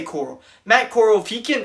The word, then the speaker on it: Corral: talking about matt corll matt corral think is how they say it but i say coral matt coral if he